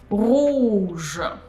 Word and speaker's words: rouge: Rouge. Rouge. Similar here, oo, this is closed sound, so oo, and you pull your tongue back. And je is pronounced as voiced.